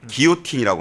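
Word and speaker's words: guillotine: 단두대를 만든 단두대를 그 프랑스어로 제가 뭐 발음이 좀 시원찮은데 기오틴이라고 합니다.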